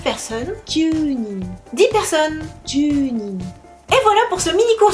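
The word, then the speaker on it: 十人: 10 personnes, junin, pas d'exception. Ju et nin. Junin. Attention à la prononciation, bien allongée, le U.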